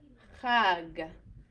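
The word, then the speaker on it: חג: So we have chag, chag.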